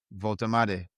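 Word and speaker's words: Woltemade: right Newcastle are oh whoa they're they're signing Wam is that how you say it yeah voltade Newcastle defending cap uh camps.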